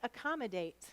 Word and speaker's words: accommodate: First syllable is ack, ack. Second syllable is calm, k, Third syllable is mo, o. Fourth syllable is date, d, a, t. Silent final e. How will we mark accommodate?